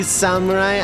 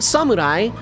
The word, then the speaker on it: samurai: You don't halfass a phonetic pronunciation of a word that is not English. It is samurai. Samurai like you know like you actually pronounce it like that. You don't you don't put emphasis on the R or samurai like go full American.